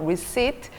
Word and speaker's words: receipt: receipt. P 발음을 하지 않습니다. receipt.